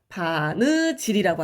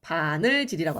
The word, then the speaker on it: 바느질: 바느질이라고 하죠. 바늘질이라고 안 하고.